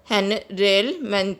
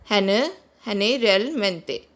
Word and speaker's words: generalmente: Usually is pronounced as generalmente in Spanish. Generalmente. Guys, there's one rule. There's two rule of pronouncing G in Spanish. If G is used before E and I, it is pronounced as H.